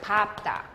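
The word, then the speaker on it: 밟다: 리을 비읍인데 리을로 한다며 예외니까 비읍으로 하겠죠. 밥다.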